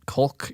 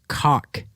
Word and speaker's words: caulk: I think it's pronounced cock. It's not that. There's an L in there. I know. It's I think pronounced caulk. Caulk. It's not caulk. The L isn't that Caulk. pronounced.